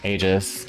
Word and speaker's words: Aegis: really hard to dodge stuff I guess it's pronounced Aegis Aegis so they spelled it based on pronunciation that